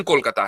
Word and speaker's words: कोलकाता: को कोलकाता कर दिया क्योंकि उसका प्रोनाउंस एशन कोलकाता है ना बंगाली प्रोनाउंस आपने बम्बे को मुंबई